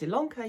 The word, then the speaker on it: Ilonka: My name is Ilonka. Yes, it's spelled with an I, but pronounced with an E.